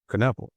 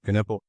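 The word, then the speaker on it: Knueppel: How do you pronounce Kanipple? Caniple. Caniple.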